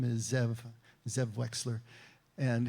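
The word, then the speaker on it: זאב: They're based in Alexandria, West Virginia, and the owner, the head honcho, his name is Zev Wexler, and his name in Hebrew would actually be pronounced Ze'ev, and it means wolf, and he's very proud of that.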